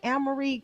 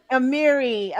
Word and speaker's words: Amiri: Is it Amory? I want to say it right. Amiri.